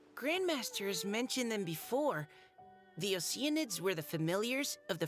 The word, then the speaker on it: Oceanids: Yeah, Oceanids, pronounced as ocean, sounds so much better than the ones the game used.